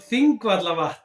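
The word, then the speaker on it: Þingvallavatn: I can pronounce them. Go for it, Matti. It's called Thingvallavatn.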